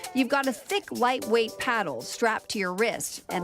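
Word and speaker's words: padel: All of the pros say paddle. A lot of European countries have always said paddle.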